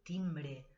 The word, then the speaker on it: timbre: I segurament hi haurà el timbre, el timbre. Timbre, aunque acabe con E, se pronuncia A, el timbre.